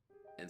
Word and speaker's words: Ei: And so that essence inside that weapon is her. That is I, or A. I keep on wanting to say I, but A. They pronounce it in the game, it's A.